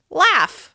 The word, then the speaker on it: laugh: Here's another example: laugh. As you can see, this word is spelled differently than it sounds. Laugh ends in the /f/ sound.